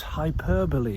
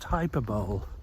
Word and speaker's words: hyperbole: it is just in Jesus's style to use hyperbole is that how you pronounce it hyperball h y p e r b o l